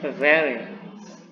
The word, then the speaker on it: very: Nah, oke, very. Nah, beda sama huruf F, tapi F itu tidak ditekan F. Kalau V ditekan very, gitu, very.